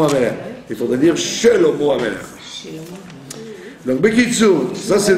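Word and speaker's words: שלמה: Voilà, Shelomo. Vous voyez bien que la plupart des gens bâclent le schéma du début du mot. D'accord? Très souvent les gens disent Shlomo, Shlomo Amelech. Il faudrait dire Shelomo Amelech.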